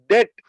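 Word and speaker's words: debt: कहते हैं नेक्स्ट लिखेगा डेट डी ई बीटी डेट उच्चारण यहां पर बी साइलेंट होगा डी ई बी टी डेट बी का उच्चारण नहीं होगा डेट डेट की हिंदी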